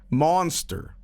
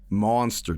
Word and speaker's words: Muenster: How should I be pronouncing Muenster cheese? Um, monster, monster cheese.